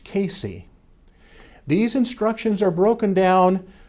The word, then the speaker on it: CACI: California approved civil instructions abbreviated CACI and pronounced Casey these instructions are broken